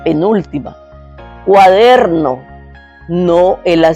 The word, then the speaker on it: cuaderno: Pero en cuaderno hay que ponerle mente que cuál es cuaderno. Pueden oír la que es der.